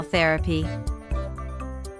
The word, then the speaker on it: therapy: Shopping therapy, or retail therapy. Therapy generally means a treatment to relieve or heal a disorder. The word is stressed on the first syllable. Therapy.